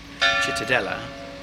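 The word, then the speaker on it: Cittadella: Chitadella.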